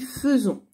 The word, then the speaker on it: faisons: a été nous faisons ça s'écrit faizon mais on dit faisons vous faites à itea